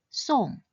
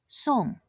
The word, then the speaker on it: 送: This character should be pronounced in the fourth tone, song, song. Note that although it has the same spelling as the word song in English, it should not be pronounced as such.